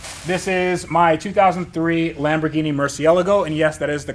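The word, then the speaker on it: Murciélago: see much but this is my 2003 Lamborghini Murcielago and yes that is the correct way to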